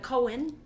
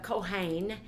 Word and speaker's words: Kohen: The priest means the Kohen, or the Kohain is pronounced, and it literally means an officiating, one who officiates, a priest, also an acting priest, sometimes a layman.